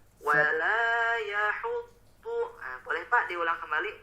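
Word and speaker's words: ولا يحض: Nah, itu lebih dipanjangkan lagi Pak, membacanya sepanjang 2 harokat. Nah, tadi mohon maaf Bapak bacanya masih terlalu pendek. Terdengarnya wala yahuddu. Nah, tidak dipanjangkan. Lebih dipanjangkan lagi Pak menjadi 2 harokat.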